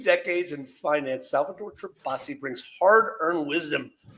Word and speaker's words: Tirabassi: Salvatore Tirabassi. Did I say it right, Salvatore? You got it. You got it right.